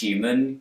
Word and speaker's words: human: in general for me the words human huge at humor begin with a hue sound but in New York accents the H is dropped and when left with